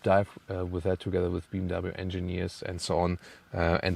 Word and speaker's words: BMW: So BMW, yeah, because in Germany we say BMW. So BMW is BMW.